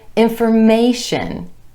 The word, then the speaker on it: information: When we add our TION ending, we get information, information. Again, the stress shifts to that A vowel sound right before the TION ending, information.